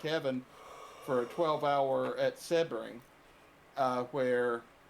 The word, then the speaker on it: Sebring: No, it's Sebring, buddy. You are Gary. You can say what you want. You are ostensibly wrong. It is called Sebring.